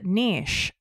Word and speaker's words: niche: got a niche and some people pronounce Niche and I don't because it doesn't rhyme with Rich and I like things